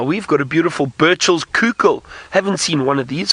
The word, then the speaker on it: Coucal: And it's spelt Coucal. Some of you might have thought it's I said cuckoo. It's not a cuckoo, it's a Coucal.